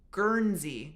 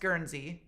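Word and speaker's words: Guernsey: and don't know either like myself G it's gerzy gery it's pronounced gerzy okay so it's pronounced gerzy and is it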